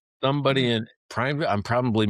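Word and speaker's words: Prineville: I don't know who's watching us in Primeville, Oregon, but they're clicking on that site all the time. Several times a week sometimes. Oh, nice. Somebody in Primeville.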